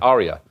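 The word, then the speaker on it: Aria: that hotel ARA there we go thank you Arya remember the first time I remember going out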